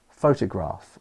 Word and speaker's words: photograph: Let's take the word photograph or photographer. So when I say photograph, I put the stress on the t, photograph. But if I said photograph or photograph, that would be wrong.